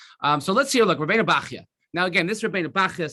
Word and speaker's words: Bachya: Look, Rabbeinu Bachya. Now again, this Rabbeinu Bachya, some people say Rabbeinu Bachaya, depending on how you pronounce it.